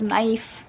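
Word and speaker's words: knife: थ वर्ड्स के एन जो कि साइलेंट होता है के लेटर नाइफ या फिर राइट यह सब रिस्ट तो कुछ और टॉपिक इसमें जो है वो कवर किए गए हैं।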